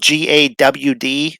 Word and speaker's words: Gad: It's spelled GAD, but it's pronounced GAWD, like God.